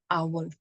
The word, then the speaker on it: hour: when I say an hour if you see the sound of hour H is silent right we are not saying an how we are saying an our so essentially it is